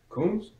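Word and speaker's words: Lawnmower: His last name is spelled L-A-W-N-M-O-O-W-E-R. Pronounced like the thing you comb your hair with. Coombs?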